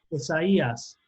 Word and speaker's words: Isaías: acento la ain entonces una diálisis es decir que hace que hace efectivamente que esta palabra se pronuncie isaías no cesa ya ok mis heridas se